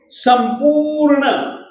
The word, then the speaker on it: संपूर्ण: प में जो उ की मात्रा है वह दीर्घ है और दीर्घ स्वर के उच्चारण के लिए दो मात्रा प्रमाण समय चाहिए। संपूर्ण र जो है वह मूल व्यंजन के रूप में है, तो इसको हम पूरा नहीं बोलेंगे।